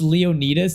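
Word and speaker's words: Leonidas: Pronounce Leonitus, not Leon.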